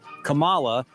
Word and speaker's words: Kamala: Thought it was interesting about the pronunciation of Kamala Harris. Kamala Harris. You notice there the Supreme Court justice said Kamala, and when she said her name herself, she said Kamala.